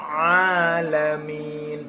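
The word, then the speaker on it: العالمين: Rabbil a, lidahnya tidak boleh lepas, langsung makhraj ainnya masuk. Rabbil alamin, tapi bukan Rabbil a, itu salah.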